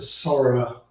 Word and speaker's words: Soraa: In terms of the light bulbs, you can get zero blue light bulbs at a Sora, the Sora store. If you search for Sora Zero Blue, and Sora is spelled SORAA, you can find light bulbs today that are zero blue light bulbs.